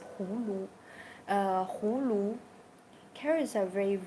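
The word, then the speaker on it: 葫芦: Uh first of all, gourd in Chinese we pronounce this we call this Hulu.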